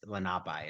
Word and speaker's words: Lenape: I think that's Lenape is the word, how they pronounce it.